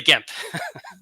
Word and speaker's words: Gemp: So I'm pretty sure the Japanese doesn't have a hard or a soft G, so it's definitely Gemp.